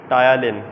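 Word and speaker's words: ptyalin: टायालिन, P silent है बेटे, आप जो प्रेजेंटेशन में बता रहे थे।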